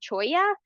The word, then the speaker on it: cholla: And then this is, I always forget if it's pronounced cholla or jumping cholla.